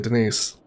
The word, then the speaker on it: Denise: a little dry and tells people that it's perhaps pronounced Denis in order to sound a little bit more sophisticated, but her name is actually Denise.